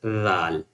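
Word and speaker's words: ذال: And the next one is the one of the softest letter, zal. Zal. So, you can pronounce with when you touch maybe the not the tip of tongue, but maybe the inside a little bit inside of the tongue, and you can touch the upper front teeth, you can say zal.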